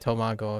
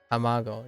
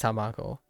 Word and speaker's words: tamago: ow Amo I I I think I said tomago again tamago yeah that's fine yes I know it's tamago but uh sometimes I